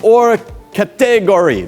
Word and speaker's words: Hors Catégorie: got that the Orca the hors catégorie that's how he says it I I've actually met Christophe Baron he's pronounce that for me multiple times I knew I was